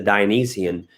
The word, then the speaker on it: Dionysian: guys very good brandon you are correct the dionysian i'm let me spell that for you dine or i would actually